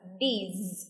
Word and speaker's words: these: Đưa lưỡi ra và nói the, is, these. Nhớ là có âm Z ở phía cuối, these.